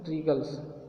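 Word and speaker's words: wriggles: यहाँ पे W silent है, यहाँ पे डब्लू साइलेंट है, ये क्या बोलते हैं इसको रीगल्स।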